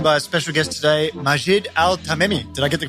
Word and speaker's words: Majed Altamimi: I'm joined by a special guest today, Majid Al Tamei. Did I get the pronunciation correct?